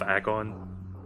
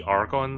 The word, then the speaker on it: Agon: the Dark Temple of Agon. I don't know why I keep putting an R in there when I pronounce that word. I don't know, it seems like it would be Argon, but it's Agon.